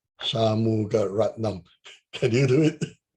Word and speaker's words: Shanmugaratnam: So usually when the Chinese visitors came, and the Chinese interpreters always have problem pronouncing his name. Shamgu. Can you try reading this? Shanmugaratnam, Shanmugaratnam, Shanmugaratnam.